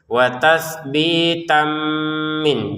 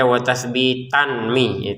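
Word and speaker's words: وَتَثْبِيتًا مِنْ: Jadi tanwin bertemu mim kita masukin dengan dengungan watasbitam min. Jadi caranya begitu ya bacanya. Jadi jangan dibaca watasbitanmi.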